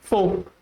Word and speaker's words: folk: The L is silent in this word. So the correct pronunciation is folk.